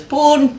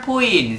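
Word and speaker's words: pwn: The word poon is pronounced in many different ways, such as poon, pon or puin. The most common variation is the initially listed.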